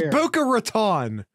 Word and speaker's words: Boca Raton: guest via your pronunciation it's Buca Raton I don't know which